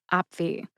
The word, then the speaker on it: Opvee: It also has two syllables. That's op, which is an abbreviation for the word opportunity, and v in the alphabet. V. Put both syllables together, and you get avi.